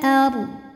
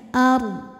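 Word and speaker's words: الأرض: izhar qamari Minal ARD huruf ro sukun dibunyikan secara tafkhim sebab huruf sebelumnya berharakat fathah maka dibacanya tebal Minal ARD dan walaupun dodnya disukunkan ini harus tetap terbaca ya ARD ro dulu baru ke DD ARD di atasnya ada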